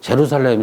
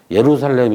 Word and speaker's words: 예루살렘: 이거 R자라고 내가 썼는데 이거를 제루살렘 이렇게 발음한 게 아니라 그지? 예루살렘 이렇게 말하죠.